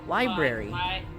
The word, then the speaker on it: library: No, you gotta say it with the Li- hard R. Library.